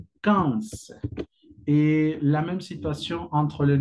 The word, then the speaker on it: quinze: Y la manera en que lo vas a pronunciar es quinze, quinze.